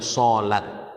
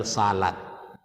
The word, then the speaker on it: sholat: Sama dengan sholat, jangan salat. Nah, kalau tulisannya itu kan salat, bahasa Indonesianya salat, bacanya sholat.